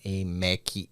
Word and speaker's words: Emequê: de rede social @mcay Lembrando que é se escreve Emec né é m e q u e então é em MEC Store o site né o